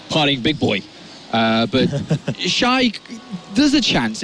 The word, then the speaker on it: XY: Now on stage though, we do have XY or Shy. What's the correct pronunciation? Shy. All right, so Shy.